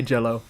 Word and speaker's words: Jello: Jello? Okay, Jello. Soft G.